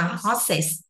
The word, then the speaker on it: horses: Vậy thì chúng ta sẽ đọc là horses.